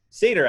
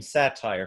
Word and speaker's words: Satyr: I keep calling your last name Satyr for some reason. Is it pronounced Satyr? And technically, I am but a satire of everything, really. But yes, it is Satyr, like the mythological creature.